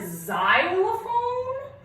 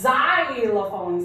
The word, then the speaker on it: xylophone: But when I put it at the beginning of a word like xylophone, or one of my favorite periodic table elements, xenon, it is pronounced like a Z.